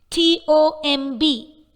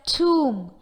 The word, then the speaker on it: tomb: T-O-M-B is pronounced as tomb but not tomb.